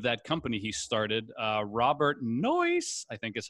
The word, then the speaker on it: Noyce: And two of his employees of that company he started, Robert Noyce, I think is how you say his Noyce. Name. I think, you know, I say noise instead of nice.